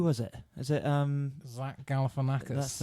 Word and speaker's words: Galifianakis: Is it Zach Galifianakis?